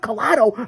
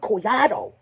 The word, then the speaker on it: Collado: sob howard collado or as i like to say howard coyado that's how you say it in the latin spanish languages it's not howard collado he's very proud of his heritage it's howard collado you got to roll the tongue howard coyado you hear that influence on the and the why and you drag it it's coriado collado coiado